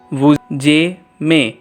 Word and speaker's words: vous aimez: Again it is written here as vuzeme, but instead of j, pronounce it as z. Vuzeme.